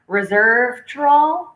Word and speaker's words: resveratrol: He said higher elevation means more resveratrol. How do you pronounce that?